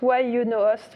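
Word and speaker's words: YunoHost: Oui, c'est mais ça se prononce why you know ?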